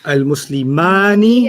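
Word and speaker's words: المسلمان: Because when you say al-muslimani, Yeah. it rhymes with al-kitabani.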